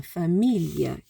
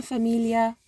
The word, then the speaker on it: famiglia: So a familia, it's kind of a li. It's almost like a li, but there's like an extra syllable somewhere there. Una famiglia che ti ama.